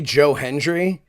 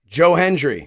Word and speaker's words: Joe Hendry: but I'm just wondering um if I say Joe Henry is he now legally obligated to be guest on our show uh just because you say his name and he appears yeah Joe Hendry yeah sorry Joe Hendry it's like Beetle just